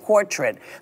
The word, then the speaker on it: portrait: And it paints a much different portrait than the way she's been portrayed in the media.